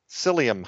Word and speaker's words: psyllium: stuff will have bulk psyllium husks and that's spelled with a P P sy l li um husks psyllium husks there's a